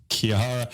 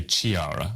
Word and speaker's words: Chiara: Usually I get like kiara me and I'm like you don't pronounce the ch as the ch. It's key. Well, I can say I would never say I would I can say I would never say chiara.